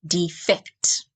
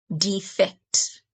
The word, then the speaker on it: defect: When you stress the second syllable, it's defect. Defect.